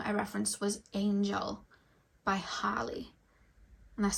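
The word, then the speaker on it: Halle: And the third song I referenced was Angel by Harley. And that's spelled H-A-L-L-E, Harley.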